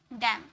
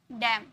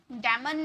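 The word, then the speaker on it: damn: कॉलमन नहीं बोले कॉलम डम डेमन नहीं डम ओके तो एम एन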